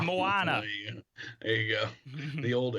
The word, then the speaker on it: Moana: was coming out and everybody kept saying mona well i mean that does actually kind of make sense because that's how you spell that but no it's the circle has a swirly in it so it's moana there you go the